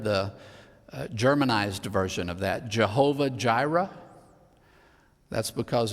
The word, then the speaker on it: Jehovah Jireh: germanized version of that Jehovah Jireh that's because in German the J is pronounced like a y ahwehire you've probably heard